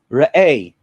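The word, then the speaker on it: ראה: And Rabbi, you helped me with the pronunciation. Is it Re'eh? Re'eh.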